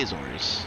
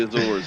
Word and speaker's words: Azores: I pronounce it Azores because I'm American, but that's... The Azores, yeah.